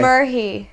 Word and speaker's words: Merhi: Merhi. Well, it's weird because my name's Arabic. So if I was like meeting someone who's Arabic, I guess I'd be like, oh, my name's Merhi.